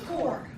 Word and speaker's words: Core: So our dealer's choice will be done by Core. I did not know how to pronounce last name, so I asked her and she said it's like Apple Core.